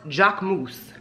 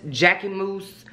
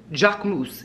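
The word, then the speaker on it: Jacquemus: right okay listen to me come closer it's pronounced Jack moose not jackyes Jackie moose Jack moose it's a French brand put some respect on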